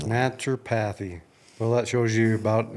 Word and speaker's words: naturopathy: is the owner of naturopathy Lane do I pronounce that right no it's naturopathy naturopathy well that shows you